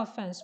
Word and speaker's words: offense: no offense no offense of course the stress is on F no offense what's that in